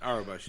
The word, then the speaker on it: Aurebesh: I don't know how to pronounce it. Doesn't matter. Aurebesh, yeah.